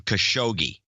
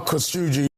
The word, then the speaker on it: Khashoggi: First of all, I have a ISO of Erdogan pronouncing Khashoggi. Okay. As it turns out, I have another pronunciation guide for us. Well, this is Al Sharpton's version. Jamal Khashoggi. Khashoggi.